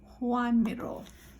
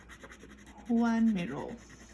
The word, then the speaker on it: Joan Miró: we say his name let me check spanish juan miro okay one mirror so that's how you say his name one middle okay so